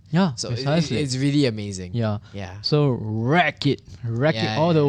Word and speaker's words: Wraek: pronounce that name yeah it's called wreck wreck-it ralph that's it right yeah we really like